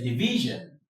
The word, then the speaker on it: division: Your stress falls on the syllable before the last syllable, the syllable before the shun or zhen, as in, let's say, division. Di vi zhen. Di right? Vi zhen. The stress falls here, so you have t v sion, division. de vi sion.